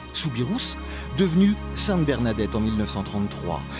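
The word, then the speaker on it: Soubirous: son cercueil de verre Bernadette souirou qu'on devrait prononcer souirous devenu Sainte Bernadette en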